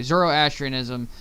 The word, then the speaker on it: Zoroastrianism: just couldn't remember how to say it properly zoroastrianism it's one of the world's oldest continuously practiced